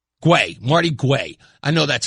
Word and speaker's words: Guay: Guay, Marty Guay.